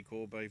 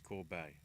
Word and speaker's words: Corbet: From what Wikipedia pronunciation's saying, it is a EI as in the A in face. So I think it is Corbet.